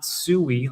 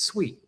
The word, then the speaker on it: Sui: foundation pronounces it is not sooie like you're calling a pig. It's sweet, huh?